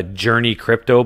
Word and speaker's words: JRNY Crypto: the crypto space uh journey crypto but it's spelled jrny crypto he's pretty big or